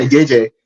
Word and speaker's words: Gege: Giga? Yeah, Gege.